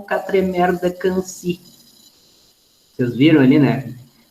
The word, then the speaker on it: Quincy: Quincy, vocês devem ter entendido, mas em francês se pronuncia Quincy.